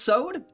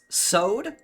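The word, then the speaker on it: Soad: Uh I'm My name is Sod. Uh say it one more time. Sod.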